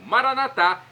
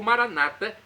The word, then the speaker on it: Maranata: e agora do aramaico Eu Clamo Maranata como dizemos nosso católicos ou Maranata como dizem nossos irmãos separados os evangélicos ou Protestantes nas duas pronúncias o significado é o